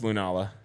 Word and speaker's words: Lunala: you say wrong like that Lun lunala it's lunala it's the bat withing Celestial Wings it's literally